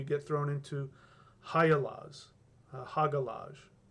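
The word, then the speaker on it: Hagalaz: thrown into higher laws haga lodge pronounced hiya lodge we get to high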